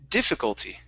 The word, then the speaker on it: difficulty: instead of difficulty okay the stress is at the very beginning difficulty difficult okay very nice